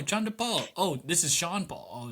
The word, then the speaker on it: Sean Paul: Part of the reason that he gained traction in the Caribbean is that the radio host pronounced his name Chandra Paul.